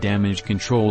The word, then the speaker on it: Damage CTRL: the theme song and damage control logo they say control even though it's spelled as control so we are not calling it damage ctrl but damage control is the name just confirming it for